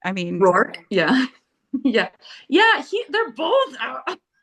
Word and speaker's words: Rourke: I mean, Rourke, yeah.